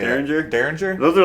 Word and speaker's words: Derringer: Derringer.